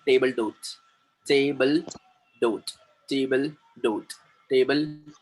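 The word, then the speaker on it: table d'hôte: टेबल डोट, टेबल डोट, टेबल डोट, टेबल डोट, एलाकार्ड, टेबल डोट, एलाकार्ड, टेबल डोट।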